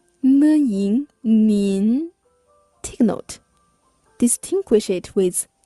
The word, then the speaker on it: 您: You should say 您好您好您好，您好，您好，您好，您好，您好， The pinyin of 您 is spelled N-I-N. 您 Take note.